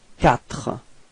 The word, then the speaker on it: quatre: Q plus U gives you the sound k. Okay, so in this word you get the sound quatre.